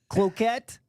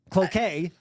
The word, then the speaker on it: Cloquet: Cloquet. Cloquet. It should be cloquet rhymes with croquet. Yeah, cloquet. That one I'll give you either one on. Oh, really? Yeah, I will. People say that either way.